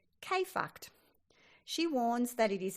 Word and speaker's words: KFKD: Writer Anne Lamott describes listening to your inner mean girl as being tuned into radio station KFKD, purposely pronounced K-fucked.